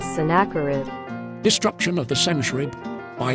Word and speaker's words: Sennacherib: pronunciation of the sennacherib the voiceover does not know how to spell it correctly in the proper pronunciation is synacurid disruption of the century